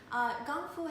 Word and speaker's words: Gongfu: Gongfu has the same pronunciation as Kung Fu in Kung Fu fighting, and they both mean dedication and arts and efforts.